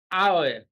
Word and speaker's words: hour: Now, the secret here is that options B, C, and D contains words in which H is silent. You find the letter H, but that letter H is silent. It is not pronounced.